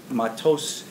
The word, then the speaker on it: Matos: Matos would be the Ashkenazi way of pronouncing it.